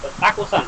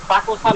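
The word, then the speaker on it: たくさん: আবার দেখার সময় বলব তাকুসান তাকুসান মানে কি তাকুসান না এটার উচ্চারণ হবে তাকসান তাকসান মানে কি অনেক আচ্ছা আচ্ছা তারপরে আছে দেশো।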